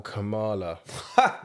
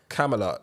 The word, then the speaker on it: Kamala: if you've noticed that camelot do i ever say her name right camaro or camelot kamala depending on who's saying it oh no it's kamilah isn't it no no it's kamala harris it might be camellia